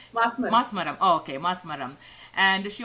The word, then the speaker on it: Masmaram: acted in Malayalam movie Vendum and I think Masamaram. Did I say it right? Masamaram, right? Masmaram.